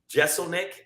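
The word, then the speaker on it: Jeselnik: gonna be on the show um crystalia uh jeselnick am I saying it right yeah Anthony's gently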